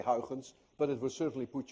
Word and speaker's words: Huygens: a very different way heritance by the way is difficult to pronounce any one of you who knows how to say how sins correctly is also dutch because you miss the air in your language and you mr.